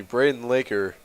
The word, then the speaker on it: Braden Laker: Sorry, excuse me, Braden Laker. Rhymes with Baker.